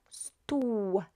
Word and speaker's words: stół: The O with a little accent is exactly the same at the, as this one here when it comes to pronunciation, is U. So this and this are the same, pronounced the same way.